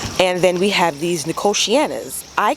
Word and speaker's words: Nicotiana: not looking happy and then we have these nicotianas i call them nicotina the first time and nobody corrected me guys